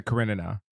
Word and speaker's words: Karenina: yeah, Kyle was even correcting James about like he was making up syllables or something, and like it's like literally Karen ina Karenina, and Kyle was so wrong on that.